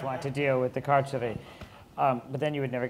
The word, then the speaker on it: carceri: The carceri.